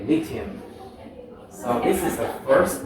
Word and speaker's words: lithium: foreign lithium normally it's a stressed on the first syllable okay first syllable okay lithium so this is the